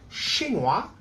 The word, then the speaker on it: chinois: When it's a man, je suis chinois, we don't pronounce the final S.